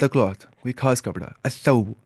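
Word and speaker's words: الثوب: असौबु, अलसौबु नहीं, असौबु, लाम पढ़ना ही नहीं, लाम साइलेंट है, कहाँ पे, उर्फ शमसिया के अंदर।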